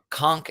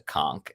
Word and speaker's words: conch: So we saw the word conch everywhere. Which, although it ends with a CH at the end, it's pronounced with this hard K, which was something I had to learn because I never used this word conch.